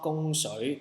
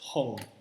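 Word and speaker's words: 汞: So this one is not gong shui, this one is pronounced as hong, okay?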